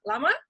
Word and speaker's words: Larmour: That's right, Larmour?